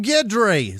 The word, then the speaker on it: Guedry: Rachel Davis Sarah Jane gri guedry uh uh it's probably gri it spelled like Guido with dry at the end uh G like Ron gidry oh gidry Sarah that's what it